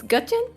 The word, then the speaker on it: Getian: Uh, just to confirm his name, the pronunciations Gutian.